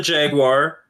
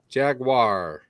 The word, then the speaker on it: Jaguar: So yes, the only thing, I mean, if you're British, you could call it the Jaguar. We call it the Jaguar. It is just not the Jaguar. It is not a Jaguar. Jaguar. Yeah, two syllables, right?